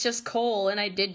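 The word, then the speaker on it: Chaol: From the Throne of Glass series, I always thought that his name was K-All, but it's actually just pronounced Cole, and I did not know that until I heard Sarah J.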